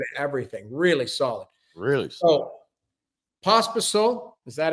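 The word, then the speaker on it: Pospíšil: So, Pospisil, is that how I'm pronouncing his name?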